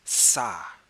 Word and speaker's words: ça: Or how do you say this in French? It is ça, and this it is spelled C-A. The only difference between the C and any other C that we're used to is that this C has a special little tail that hangs down on the bottom of it.